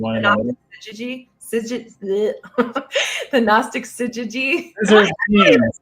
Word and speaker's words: syzygy: The Gnostic syzygy. I'm not saying it right. It's like scissors with jeans, like scissored jeans.